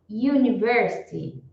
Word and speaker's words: university: y então you you Quando começa com esse som you para eles é um som consonantal e não som vocálico Então tem que lembrar